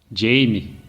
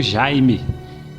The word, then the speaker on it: Jaime: perguntou o nome dele jime a pronúncia em inglês o agradava embora o correto fosse mesmo Jaime ali fazia sentido esse